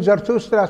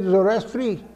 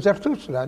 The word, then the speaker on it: Zarathustra: There are so many Greeks who could not even pronounce name Zarathustra, so they said Zoroastri. And the Zoroaster stuck with us. It's a Zarathustra, nothing like that.